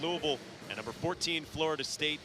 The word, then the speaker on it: Louisville: My son goes to school at Bellarmine University, and Mike, I think the proper way to pronounce it is Louisville. Louisville.